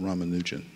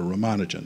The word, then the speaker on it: Ramanujan: There was an Indian mathematician by the name of Ramanujan, or Ramanujan, depending on how you pronounce it.